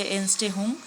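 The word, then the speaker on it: Entstehung: তারপর হচ্ছে এনস্টেহুং, এনস্টেহুং বানানটা একবার দেখে নাও, ENTSTEHUGN, ঠিক আছে, এটা হচ্ছে এনস্টেহুং। তারপর হচ্ছে কন্টিনেন্ট অ্যান্ড ওশান।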